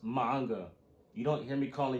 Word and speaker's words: manga: not in here P about some manga it's pronounced manga you don't hear me calling your books bucks